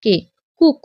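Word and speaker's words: cook: উচ্চারণ মতো আমরা এগুলো পড়বো সি ডাবল ও কে কুক এখানে কুক কি করে হলো সি এর উচ্চারণ ক আর ডবল ও যদি থাকে তখন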